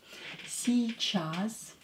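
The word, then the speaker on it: сейчас: will be C Chas yay is not stress so pronounce it as e sorry not a e see jazz pronounce it as e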